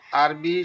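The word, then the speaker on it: أربعة: আরবি সংখ্যা গণনা ও 7 দিনের নাম এবং ছোট আরবি শব্দ মিলিয়ে কথা বলার চেষ্টা করব ইনশাআল্লাহ।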